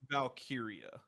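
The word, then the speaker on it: Valkyria: How do you say her last name? Valkyia.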